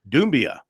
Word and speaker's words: Doumbia: Is it Doumbia or Doumbia? Oh, it's Doumbia. That is correct. It's with an I at the beginning, and Doumbia is correct pronunciation.